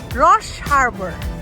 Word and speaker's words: Roche Harbor: Ito iyung Rosh, how do you say it? Ros. Rush Harbor. Rush Harbor.